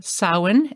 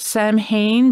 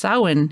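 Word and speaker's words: Samhain: of people pronounce it Sam Hayne but it is a Celtic word it's s-a-m-h-a-i-n as you probably all know but it's pronounced sauwin because it's uh it's Gaelic so it's really hilarious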